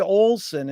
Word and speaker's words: Olsen: and a pleasure to be here with olson is that the correct way to pronunciate it it is yes thank you jerry